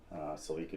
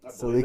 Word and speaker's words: Celica: Do people in the States pronounce it Celica? They call it Celica in the States. Celica.